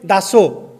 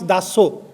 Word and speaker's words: Das: So he used to call me Daso. So we Odia people, we pronounce Daso, not Das.